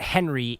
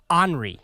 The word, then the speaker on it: Henri: also our moon guy it's not henry it's henry uh it's french pronounced henry must be why is